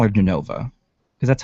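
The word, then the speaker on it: Jenova: Is it Yenova or is it Genova? I don't know. Genova. Okay. We were like, it's Yenova. No, you pronounce the J. You're not Spanish.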